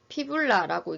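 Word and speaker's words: fibula: 비골이라고 하고 피불라라고 읽습니다.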